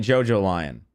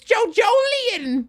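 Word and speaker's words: JoJolion: just way too cocky why am I pronouncing it JoJo lion because how else would you pronounce the words Jojo and lion without somebody telling you that you're saying saying it wrong the do you think oh it's Jo Jolan how the [ __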